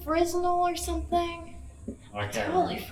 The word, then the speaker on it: Fresnel: It's called like Fresnel or something. I can't Totally remember. forgot. I'm just kidding. Oh. It's a Fresnel. S Fresnel. is silent.